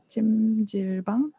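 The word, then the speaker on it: 찜질방: Ĉu ni kune prononcu? ĝimĝilbang? Ĝimĝilbang.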